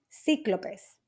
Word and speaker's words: cíclopes: Sí, con acento en la I, cíclopes.